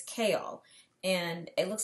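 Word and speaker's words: Chaol: was correct it is a little weird it's kale and it looks like it says chal but it's pronounced kale so let's go with that his name is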